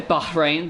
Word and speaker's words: Bahrain: Or should we say Bahrain, because you're supposed to pronounce the H.